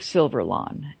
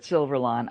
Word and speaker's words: Silverlon: And he said, have you ever heard of Silverlon? And it's spelled like the word silver with L-O-N at the end.